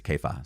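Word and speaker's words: Kepha: don't like it but kefa sounds actually more uh close to what it would be called in Hebrew or Aramaic uh in those Mediterranean languages and actually there's an argument the pronunciation is kefa so there we go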